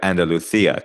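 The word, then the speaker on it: Andalucía: Now, Ryan, you're you're going to be pronouncing it in the traditional Spanish way of Andaluthia.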